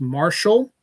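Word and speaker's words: Martial: His name is Marshall T. Bachaman and Marshall is spelled M A R T I A L and not M A R S H A L L.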